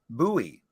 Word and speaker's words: Bowie: a little town called bowie arizona i always have to make sure that i don't pronounce it like david bowie not it's more like